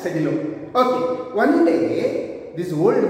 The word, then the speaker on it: Sedillo: Okay, hereafter, only for the purpose of this lesson, we shall pronounce his name only as Sedillo.